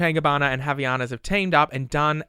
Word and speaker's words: Havaianas: Let me tell you, Havaianas.